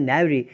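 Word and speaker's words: knavery: Word है वो है नेवरी, के साइलेंट है, दैट्स कॉल्ड नेवरी।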